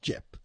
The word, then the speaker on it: gyp: And I love, by the way, the fact that you know how to spell Jip as GYP. Because usually people spell it like odd ways. It's Jip. Crackerjack tattoos.